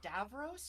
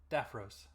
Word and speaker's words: Daphros: Is it Davros or Daphros? Daphros.